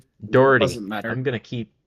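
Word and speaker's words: Dougherty: counties as well as um what is it degerty is what we said it's pronounced Dory doesn't matter I'm Gonna Keep screwing that up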